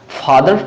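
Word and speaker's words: father: है ए आपका वावेल है तो यहां पे फादर पूरा बोला जाएगा अगर यहां पर मैं ए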